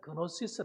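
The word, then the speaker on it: γνῶσις: 좀 지혜라고 하는 것은 헬러 으로 소피아 하는 말이고 지식 이란 말은 그노시스 란 뜻입니다 그렇게 발음을 합니다 그게 어떤 사람들이 큐베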